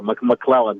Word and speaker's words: McClellan: i don't uh mispronounce yes you're right there mcclellan just like the air force base or the general or yeah very nice